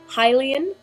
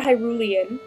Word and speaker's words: Hylian: But in my opinion, I have always pronounced it Hylian, like you're a Hylian person. I have heard Hyrulean, which makes a lot